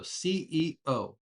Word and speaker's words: CEO: We try to pronounce every letter in these acronyms. So CEO.